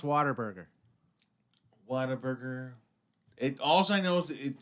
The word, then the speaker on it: Whataburger: thing is waterboarding yes you can say it like a Texan here we go cuz it sounds like water Bernhard why it's Whataburger now but it's pronounced water burger Whataburger it also knows